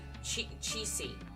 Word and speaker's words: Qixi: Qixi.